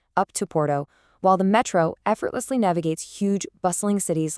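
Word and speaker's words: metrô: And even for the subway, while it's spelled really similarly, Brazilians emphasize the end with metro, whereas over in Portugal, it's just metro.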